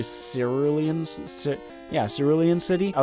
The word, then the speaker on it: Cerulean: yeah that's another one I mispronounce kuru Liam city I think it's actually cerulean yes early in city